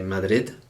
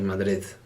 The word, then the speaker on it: Madrid: see that like uh people from madrid don't say madarid they say mother okay so that's something